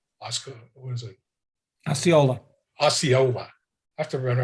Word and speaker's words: Osceola: Osceola. I have to remember how to pronounce it.